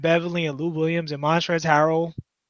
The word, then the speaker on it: Montrezl Harrell: and Lou Williams in montrezl harrell the L is silent they just like they